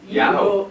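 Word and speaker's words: Yeoh: Yo, I can't pronounce her name. Y-E-O-H? Yeah. Yeah. Yao.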